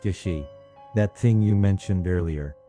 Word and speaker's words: jashi: Evil gaze written with the characters for evil, and sight, pronounced Yashi.